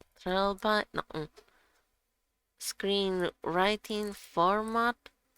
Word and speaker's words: Trelby: TRELBY is how it's pronounced.